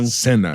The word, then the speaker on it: SINA: And that's SINA is how he pronounced it.